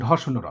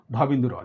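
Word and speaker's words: ঢ়: একটি হচ্ছে তারা বলছে ড শূন্য র এবং ঢ শূন্য র। তোমরা শূন্য বলবে না, তোমরা বলবে বিন্দু, ড বিন্দু র, ঢ বিন্দু র।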